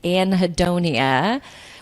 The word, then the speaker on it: anhedonia: But there's actually a scientific word for it, which is anhedonia, which is ANHEDONIA. I just like to spell it in case people want to look it up.